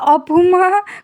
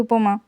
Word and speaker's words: উপমা: আর সবচেয়ে মজার একটা কথা বলি, আমার আম্মু নিজেই, আমার আম্মু আমার নাম ঠিক মতো বলতে পারে না। উপমা, কখনো অপুমা, কখনো উপরমা, আচ্ছা এগুলা হইতেই থাকে। আচ্ছা, কিন্তু আমার নাম কিন্তু উপমা।